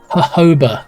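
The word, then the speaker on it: jojoba: only one I do J sounds like H oh okay when you have um hoba in your shampoo but it's it's spelled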